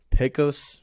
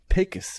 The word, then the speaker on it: Pecos: Pecos Bill. Or, excuse me, as they pronounce it, Pecos Bill.